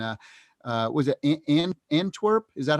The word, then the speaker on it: Antwerp: the world and uh uh was it and antwerp is that how it's pronounced in yeah and terp yeah antwerp yeah what people don't realize and and i'm